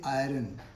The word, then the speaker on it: iron: Or you also can say like this, where is iron found in India? So remember, never say iron.